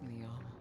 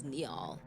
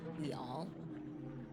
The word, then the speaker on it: Neol: only way for us, Neil. Oh, it's Neol. I've been saying it wrong this entire time. My bad. Neol.